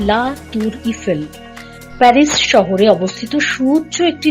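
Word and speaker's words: La Tour Eiffel: করবো আপনাদের সাথে আইফেল টাওয়ার ফরাসি ভাষায় যার উচ্চারণ লা তুর ইফেল প্যারিস শহরে অবস্থিত সুউচ্চ একটি লৌহ কাঠামো যা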